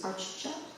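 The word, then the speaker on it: ārcchat: Archat, Achat, achieved. I Achieved. guess you're supposed to pronounce both those C's. Archcha.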